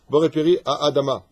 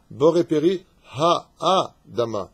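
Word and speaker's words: בורא פרי האדמה: Il y en a d'autres qui disent boré peri a Adama. Lo nachon, pas a. Boré peri ha Adama. He Aleph.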